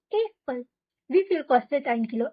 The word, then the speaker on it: Äpfel: Not Apfel, Äpfel.